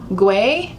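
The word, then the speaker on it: Güell: Park Guay, that's how you say it.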